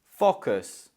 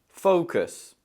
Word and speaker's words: focus: So there's 2 syllables in this word, and again, let's focus just like daughter on the first syllable. This is where I think a lot of students go wrong. They try to focus on that O sound and it sounds like fuck.